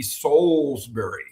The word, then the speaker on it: Salisbury: go, oh, it's Mark Salisbury. And I'll go, no, if you were in London, it would be Salisbury, right?